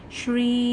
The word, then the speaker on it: Shri: The pronunciation goes like this: Shri.